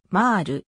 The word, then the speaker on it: MÄR: のメルヘンにちなむしかし北米での公式な読み方はマール安西は個人事